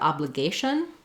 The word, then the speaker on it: obligation: When we move to the word obligation, the stress pattern changes, and that changes our vowel sounds. So whereas in obliged, we have an for letter O, in obligation, we have some secondary stress on that syllable.